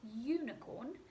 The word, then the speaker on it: unicorn: bright and that's because unicorn whilst it is spoke with you it doesn't actually have the ah sound at the beginning of it if you listen to like carefully unicorn yeah yeah yeah it actually sounds like it starts with the young sound so you have to